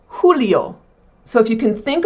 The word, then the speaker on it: julio: The J in Spanish is pronounced like an H. So, for June, junio. For July, julio. Also, you may have heard some men have the first name Julio.